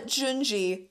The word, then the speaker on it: Junji: and white it's horrible he's so famous uh junjie is how you say the first name jinji